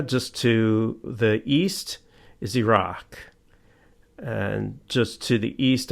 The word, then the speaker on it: Iraq: But the way you're supposed to pronounce the countries is Iraq, not Iraq. Iraq and Iran.